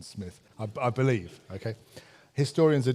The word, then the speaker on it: Smyth: I understand it uh it was Charles who decided to change the pronunciation to the more pretentious Smythe rather than Smith I believe okay historians